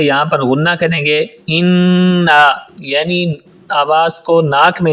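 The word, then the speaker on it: إِنَّا: بسم اللہ الرحمن الرحیم۔ انا اعطیناک الکوثر۔ انا اعطیناک الکوثر۔ انا پہ پہلے نون پہ شد ہے اور اس تشدید کی وجہ سے یہاں پر غنہ کریں گے۔ انا یعنی آواز کو ناک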